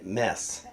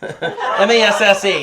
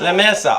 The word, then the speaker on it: Messe: French accent, as La Ligue de la Sainte Messe. M-E-S-S-E, how do you pronounce that? La Messa.